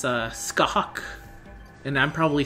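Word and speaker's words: Scáthach: But I looked it up, and it's kind of like, he says the hatch at the end is pronounced more like hawk in hockey. So it'd be Skahawk. Skahawk.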